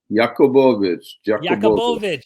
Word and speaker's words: Jacobovici: Today I have Simcha, and I just remembered your last name and how to properly pronounce it. Is it Jacobovici? Jacobovici.